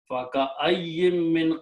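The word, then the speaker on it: فَكَأَيِّن مِّن: So first of all, in the reading, this noon sound, because of this meme, will always be recited as a meme sound.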